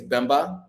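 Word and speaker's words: Baimba: family and so um my middle name is bemba and it's spelled b-a-i-m-b-a and um you know bambi was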